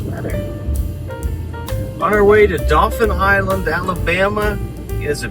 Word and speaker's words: Dauphin: we heading today Shanny Dolphin Island a island of dolphins there's no Dolphins it's dolphin and that's not how dolphin is spelled it is not but